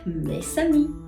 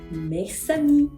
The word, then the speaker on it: mes amis: Me, normalmente, mis, algo mío, me suena sin la S. No suena esa S al final. A mí comienza con vocal. Por ende, puedo generar el fenómeno de la liaison también en este ejemplo.